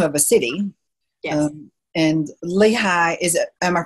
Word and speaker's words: Lehigh: And Lehigh, am I pronouncing it correctly, Lehigh Valley?